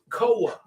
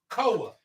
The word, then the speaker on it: Coa de Jima: COA. That's why we gonna pronounce COA. I'm with COA, not COA.